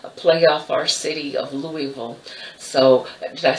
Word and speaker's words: Louisville: off our city of Louisville so I say that right Louisville Louisville Louisville you don't say it properly you move move move some people say Louis Beal or Louisville it's more Ville Louisville so anyway with that